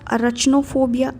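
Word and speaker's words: Arachnophobia: Spiders का अरचनोफोबिया, अरचनो ही बोलना है, अरेक्नो बोलने की ज़रूरत नहीं है, सही प्रोनाउंसिएशन करके हमने मेरिट नहीं लेना है, ठीक है।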